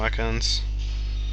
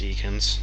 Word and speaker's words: Ekans: there we go hello Atkins or Eakins no it should not be pronounced Eakins has a very big